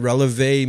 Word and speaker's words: relevé: And I had to call her and ask her how to pronounce that. And relevé means to rise up.